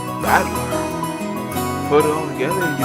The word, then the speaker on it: Battler: the characters for fight on person and it's pronounced badler put it all together you got usira Mia